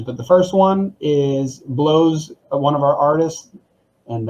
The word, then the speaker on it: Bleaux: the first one is Blow's one of our artists, and I just realized that sounds weird when you say it like that, but Blow is his name, Bleaux, and he just released this Friday.